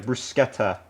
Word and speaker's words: bruschetta: Not bruschetta, brusqueta. Uh it's it's that how it's spelled is right there on the on the stream title, but it is brusquetta.